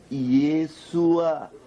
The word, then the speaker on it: Yeshua: Agora, vocês estão vendo aqui, prezados, que a pronúncia correta do nome de Jesus, ou seja, do nome de Yeshua para o grego é Yeshua.